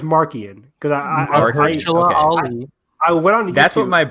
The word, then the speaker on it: Marchion: I feel like it's Marchion or I looked it up. I'm pretty sure it's Markian because I went on.